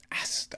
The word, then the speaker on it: Aster: Aster. I feel that's the correct way to pronounce his name.